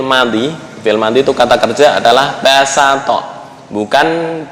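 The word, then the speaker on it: بسط: Kenapa kok dibacanya sin? Karena asal dari bastoh fi'il madhi. Fi'il madhi itu kata kerja adalah basato, bukan basoto.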